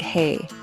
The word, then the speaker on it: hei: First, let's focus on the word hei. It is pronounced just like the English word hey, hey.